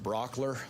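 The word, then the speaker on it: Brauchler: My name is George Brockler. Last name is spelled B-R-A-U-C-H-L-E-R.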